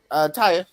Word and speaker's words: Taya: Taya.